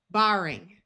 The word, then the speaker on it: barring: Again, although generally ARR will have a long A sound and sound like air, if the R is only doubled because we added a suffix after a root ending in just AR, then we keep the broad A sound.